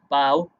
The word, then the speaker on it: bough: have the same pronunciation no they do not so we have the word bow it's here bow compare it to this tree branch but bought his or so bought bow bow rhymes with bough bought right rhymes with taught ok back onto this